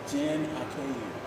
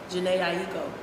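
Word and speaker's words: Jhené Aiko: Jen Akeem. Okay. I haven't heard it pronounced like that, but okay.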